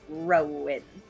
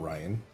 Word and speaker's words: Rowan: I'm just like Rowan. But I don't spell it anywhere near correctly. Yeah, it's not Ryan.